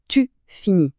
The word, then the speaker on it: finis: Attention, la terminaison ne se prononce pas tu finis. C'est exactement le même son. Et enfin, il fini ou elle fini. Écoute bien, le son est identique pour les trois.